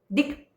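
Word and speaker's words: दिक्: डिंग यानी दिशा। दिक दिक ऐसे उसका उच्चारण होता है।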